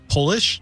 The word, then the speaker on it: Polish: Sam, is it Polish? POLISH AND POLISH, SAM. Well done, Sam. It's the word Polish is pronounced differently when it's lowercase. It's just polish.